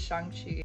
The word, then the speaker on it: Shang-Chi: Everybody around me has been saying Shang-Chi, so yes, it is Shang-Chi.